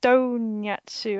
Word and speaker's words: Donyatsu: and I've just realized it's pronounced donatu as in a really bad pronunciation of donut yeah oh oh why